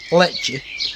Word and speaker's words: Lech'e: Pronounce Lech'e. Imagine a patchy, but replace it a pa with Lech'e.